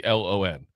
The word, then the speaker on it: Elon: It might be Elon. It's Elon. That's pretty bad one.